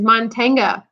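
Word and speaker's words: mantén: Manten, with an accent on the E.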